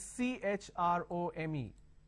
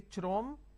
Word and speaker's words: Chrome: now here this is c h r o m e can I say Chrome like Google Chrome no the pronunciation is Google Chrome so when you have